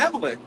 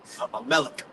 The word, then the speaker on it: Amalek: Amalek. You gotta say it like a Yiddish, Amalek. It's not Amalek, it's Amalek. Yeah, I'm just making fun of it. That's the Yiddish version.